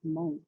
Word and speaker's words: Hmong: two main dialects um one is mong white which pronounces hmong with an aspirated h and then the mong lang or mong green dialect which pronounces hmong with no aspirated age or sorry with no aspiration um and so students